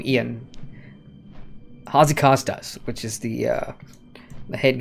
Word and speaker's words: Ion: I know it's Ian, they call him Ian.